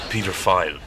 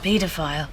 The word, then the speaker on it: Peter File: No, his name is Peter File. His name is paedophile. Don't say it like that. It sounds like paedophile. Isn't that what he just said? No, Peter File.